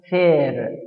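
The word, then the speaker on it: faire: الفعل الأخير يا شباب اسمه فير. فير فير يا شباب حرف الأ والإي بيتنطقوا إيه، فبقول فير.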